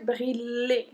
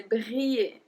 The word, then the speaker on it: briller: So I don't say briller. I say briller.